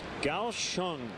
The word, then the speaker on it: Kaohsiung: It's pronounced Kaohsiung.